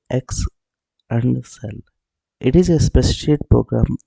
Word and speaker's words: Excel: Excel is pronounced X and cell.